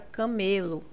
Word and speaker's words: camelo: Por exemplo, a palavra camelo. Aqui o ME é a sílaba mais forte, então nós temos uma paroxítona.